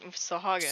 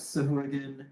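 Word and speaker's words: Sahuagin: Sahagin. Sa- what is a Sekula? The god. No. Sekulas. Oh, right. Sorry. I will also accept Sahurgan if you want to pronounce it wrong.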